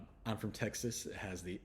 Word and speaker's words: Texas: I was feeling a little bit of Texas pride. So, but the X sound, it sounds like a KS, X.